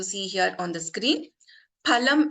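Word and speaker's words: फलम्: Phalam, as we all know in Sanskrit, means fruit. But if I replace this pa with pa, which is pronounced with less effort, it becomes palam, which means meat.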